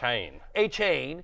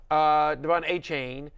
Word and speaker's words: Achane: everyone thought it was Achane, and then after his So coming it's out, Achane, Yeah. Achane, and that's how he was referred to at Texas A&M for years and years and years and It's in the years.